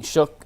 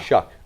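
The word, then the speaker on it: Shough: He had the Browns taking Shook out of Louisville with the 33rd pick and Carter with the number 2 pick. Yeah. Shuck.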